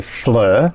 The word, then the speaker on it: FLIR: Well, the brand is, we just say Fleur. Yeah. I think in the aviation industry they pronounce it FLIR. FLIR? It's an acronym.